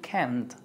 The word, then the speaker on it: can't: can't can't can't can't debe sonar la t porque si dices can es afirmativo y can't es cannot viene de negativo. Cannot. You can't. You can't. Can't es suave, no es así como que can't. No, es can't.